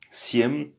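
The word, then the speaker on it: семь: Cetiri 4 c'estri et 5 c'est piat 6 se dit chest chest 7 se dit siè siem 8 se dit vosem 9 se dit viat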